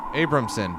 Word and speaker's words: Abrahamson: directed by Lenny Abramson abrahamson how would you pronounce abrahamson Abramson Abramson Lenny Abramson it's directed by Lenny Abramson